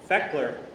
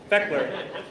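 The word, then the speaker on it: Fechteler: Feckler. Never would have guessed that. Feckler. USS Speckler as a radioman. He was stationed at Long Beach and traveled to many location in the Pacific on the Feckler.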